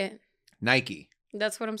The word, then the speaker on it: Nike: take the M out now put an in Nike that's the way the brand should be and